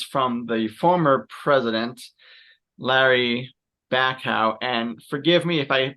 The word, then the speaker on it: Bacow: And so this quote is from the former president, Larry Bacow. And forgive me if I pronounced his surname wrong.